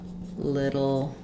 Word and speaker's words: little: a little bit um so in this phrase we're stressing on little um and because the t's are followed by an unstressed syllable we use a flap here I often rewrite it with D's um because it's just like in the word middle um we do the